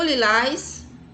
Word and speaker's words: lilás: O lilás, os lilazes. Novamente, você observa aí que a sílaba tônica é a última.